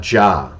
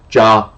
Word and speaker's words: Jah: most often, although his name most likely was pronounced according to the best available evidence as Ja in an anglicized form.